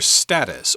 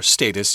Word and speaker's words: status: your wealth and of your status or status you could pronounce that both ways and of course people